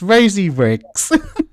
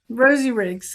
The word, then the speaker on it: Rosee Riggs: And then as as I said it, I don't think it came out right cuz I can't pronounce my Rs. It's Rosie Riggs. Yes, Rosie Riggs.